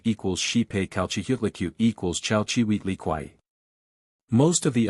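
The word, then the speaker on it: Chalchiuhtlicue: Yutzilopotli equals Witzilopochtli, Tezcatlipoca equals Tezcatlipoca, Quetzalcoatl equals Quetzalcoatl, Zype equals Xipe, Calchihutlicute equals Chalchihuitliquai. Most of the others are comparatively simple of pronunciation.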